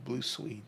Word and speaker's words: Blue Swede: It might be pronounced Suede, but it's spelled S-W-E-D-E. Blue Swede. Blue Suede.